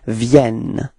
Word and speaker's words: viennent: you can see that you pronounce the like a e, okay, and the reason for that is that you've got right after two n, and then it gives you the sound e, okay. It does change the pronunciation of this okay, so it's viennent.